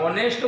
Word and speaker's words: honest: परंतु एनुं स्पेलिंग जोशो तो तमने स्पेलिंग में ऑनेस्ट HONEST आवे छे, शरूआतमां एच आव्युं छे, परंतु बोलीए त्यारे ऑनेस्ट नहीं ऑनेस्ट बोलीए छे एटले ओ बोलाय छे अने ओ शुं छे?